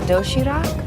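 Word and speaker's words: 도시락: It's called doshirak. Yes. Am I pronouncing that right?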